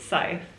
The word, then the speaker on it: Scythe: show it to the camera how do I pronounce it Scythe scythe um I remember I remember the purple